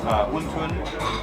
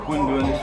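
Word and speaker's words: 馄饨: It's actually related to a word that's pronounced differently in China, but it's huntun or hundun, and people in China eat almost exactly the same thing.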